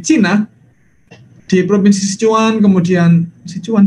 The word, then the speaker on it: Sichuan: Nah maka Bapak Ibu tidak mengherankan ya, tidak mengherankan kalau kemudian di Cina, di provinsi Sichuan, kemudian Sichuan bacanya gimana itu?